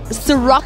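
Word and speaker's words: Cîroc: It's brought to you by Universal Music, as well as the Ciroc South Africa.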